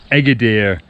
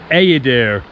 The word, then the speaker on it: Eğirdir: it should be pronounced Agadir, but actually the G with a little thing above it means that it's silent. So I think it's Agadir.